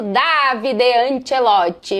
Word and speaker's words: Davide Ancelotti: É assim mesmo que se pronuncia em italiano, Davide Anchelote.